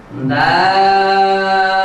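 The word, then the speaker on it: دال: করতে সক্ষম হবেন এই হরফটির নাম হচ্ছে দাল দাল দাল শিক্ষার্থী বন্ধুরা আমি আয়না দিয়ে আপনাদেরকে দেখিয়ে দিচ্ছি কিভাবে উচ্চারণ করতে হবে আমরা ইতিপূর্বে যে হরফ পড়েছিলাম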